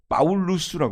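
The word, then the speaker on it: Paulus: 쓰는 언어를 라틴 어라고 하잖아요 라틴 이름은 뭡니까 파울루스 해요 파울루스 파울루스 피를이 사람들은 B 발음 파울루스 그게 그리스 이름은 파울로스 그다음에 로마식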